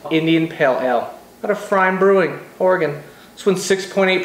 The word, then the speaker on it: pFriem: beer reviews tonight I'm trying fry brewing out of Hood River Oregon the P is silent this one is just called Indian Pale Ale got a frame brewing Oregon let's win